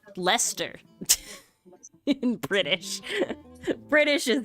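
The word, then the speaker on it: Leicester: things like lier is how it's spelled is pronounced Lester in British British is its own language so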